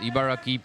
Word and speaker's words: Ibaraki: what's it called ibaraki ibaraki ibaraki ibaraki it's pronounced ibaraki prefecture near Tokyo oh wow he's not using